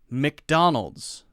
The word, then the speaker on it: McDonald's: will say like that usually it's pronounced Mik Mik very quick Micmac Mick Mick Mick